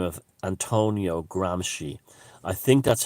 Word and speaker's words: Gramsci: he's an italian by the name of antonio gramsci i think that's how it's pronounced he was sardinian g-r-a-m-s-c-i and he was